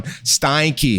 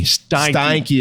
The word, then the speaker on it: Steinke: he's gonna beat me up for that one Steinke Steinke is how you say his name Randy yeah